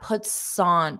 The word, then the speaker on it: puts on: So just if I were to recommend one thing, practice that puts on. Puts on puts on. Having that linking sound will instantly make you sound more natural.